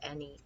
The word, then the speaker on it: any: have any and many which is a trick word because the a sounds like an e instead of an A so we don't say an E and Manny you say any many here is other and